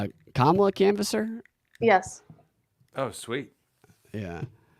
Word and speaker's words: Kamala: Except he's racist because he can't pronounce her name right. It's Kamala. It's Kamala. Yeah. It's Kamala.